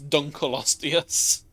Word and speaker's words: Dunkleosteus: Dunkleosteus! And I have found out it is Dunkleosteus, not Dunkleosteus, or Dunkleosteus. Because Dunkel is the name of the person that found it. So it's Dunkleosteus. Which is silly, it's a silly name.